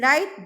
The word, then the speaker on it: right: In right, W is silent.